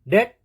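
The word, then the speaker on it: debt: नहीं बोलना है डायरेक्टली टी पे जाना है डेट डाउट सटल बी नहीं सबटल नहीं शटल अब देखते हैं सी कहां पे साइलेंट रहता है सी के साइलेंट रहने के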